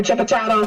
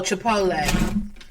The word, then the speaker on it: Chipotle: someone has mispronounced them like chip ch what's a chip you remember chipot oh Chipotle Chipotle she said I'm trying